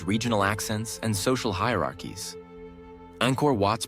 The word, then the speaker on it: Angkor Wat: Travel guides, documentaries, and online platforms can teach the authentic pronunciation, demonstrating the soft A of Angkor, the nasal NG, the short O, and the delicate clipped T of Wat.